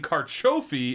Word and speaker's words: carciofi: And carciofi is how you say artichoke in Italian. Carciofi?